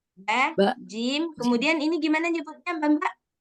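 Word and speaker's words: جيم: Maka bacanya jangan ba, ja. Nah, jangan gitu. Ba, Ba. jim.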